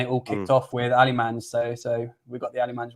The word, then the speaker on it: Alemany: should have known because Luis Miguel Echegaray told me to stop pronouncing the Y, but I completely forgot.